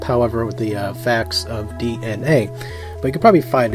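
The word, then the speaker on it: DeNA: Alright, so the first topic is going to be about Nintendo's partnership with DNA, which is spelled D-E-N-A.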